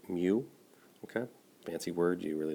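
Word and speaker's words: μ: 72 up to 107 that U is actually pronounced mu okay Nancy words you really don't need to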